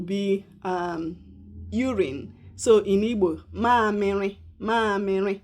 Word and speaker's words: mamịrị: The second one is mamịrị. Ụmụaka, children. Ụmụaka. Ụmụaka. Say it. Ụmụaka. Ụmụaka. I will spell it in English.